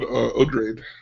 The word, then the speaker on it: Odrade: Let's talk about Odrade.